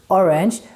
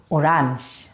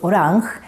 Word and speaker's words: orange: that would be orang we write it the same way as in English orange but we pronounce it the Swedish way orang here you canar hear